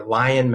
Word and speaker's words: Lyon: My social media handles across all the platforms are Lion Mental Health, but it's spelled like my last name, L Y O N mental health.